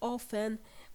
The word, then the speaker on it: often: s and we have the word ofen in which we have a silent t write one sentence using